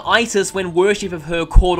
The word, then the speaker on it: Isis: Isis is one of the most iconic Egyptian gods, though recent studies have found that her name was originally pronounced more like Usat, and later Iset. She gained the name Isis when worship of her caught on in Greece and Rome.